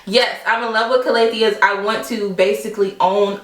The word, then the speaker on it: Calathea: Like, I'm in love with Calatheas or Calatheas. I just found out that the correct pronunciation for Calathea is Calathea, and I don't want to like offend anyone, but I'm still gonna say Calathea because Calathea, really?